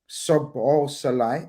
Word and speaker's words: Szoboszlai: And then obviously there's Szoboszlai. It's very easily 3-syllable, guys.